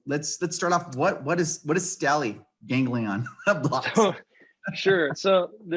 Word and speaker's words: stellate: The topic, if I can say it correctly, is we're going to be talking about what is stellate ganglion blocks.